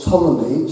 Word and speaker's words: Ptolemy: The year 64 BC, a scientist called Ptolemy, spelled with a P, who's a Greek living